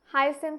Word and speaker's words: hyacinth: भी होनी चाहिए ना आई एनथ इसको हम इस तरीके से कैसे प्रोनाउंस करेंगे हाई सेंथ कह सकते हैं आप इसको वाटर हाईसथ क्लियर है या नहीं है।